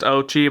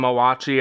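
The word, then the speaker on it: Oatchi: I'm pretty sure his name is officially supposed to be pronounced Ochi, but I was always calling him Owachi as I played Pikmin, Pikmin 4?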